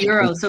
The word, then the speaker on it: gyros: mean wait real quick isn't it Euros it's euros yeah why is it spelled like gyro because it's just silent like it's Mediterranean it's